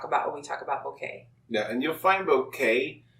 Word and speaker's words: bokeh: the day is bouquet from everything that we've found we see that the pronunciation is bouquet and that comes from a japanese language which means blur yeah and it doesn't